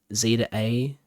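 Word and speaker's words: Z-A: what to call it Z to A Z through a normally call it Zed through a or Zed to a but because it's American it's pronounced z um that's really really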